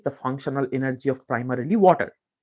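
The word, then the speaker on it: vata: called so V Kapa what is v v literally means wind or air wat okay wat long a short a wat it's constituted by the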